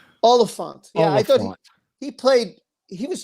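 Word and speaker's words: Olyphant: Timothy Olpath. That's how you say his name? Oliphant.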